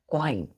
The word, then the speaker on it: quoin: यू यहाँ पर बच्चों साइलेंट हो जाता है, इसको हम नहीं पढ़ते, क्वाइन पढ़ते हैं।